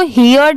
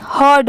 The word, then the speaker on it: heard: क्या है ओवरहर्ड, इसको हियर्ड नहीं पढ़ेंगे, ओवर OVER, इसको ओवर पढ़ते हैं, और HEARD को हियर्ड नहीं हर्ड पढ़ते हैं। इसकी यहाँ पर प्रोनाउंसिएशन हर्ड है।